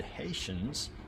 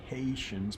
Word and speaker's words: Hessians: They faced off with the Hessians, not the Haitians, but the Hessians. I gotta pronounce it right, Hessians.